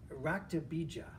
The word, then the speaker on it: Raktabija: She was fighting Raktabija, or Raktabisha. I want to pronounce it with a soft J, although I'm not sure they do in India.